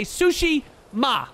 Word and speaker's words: Tsushima: saying that right but people told me to say sushi ma sushima ghost of tsushima ghost not not plural ghosts of sushima there's no tea this is silent it's like jango sort of um anyways we're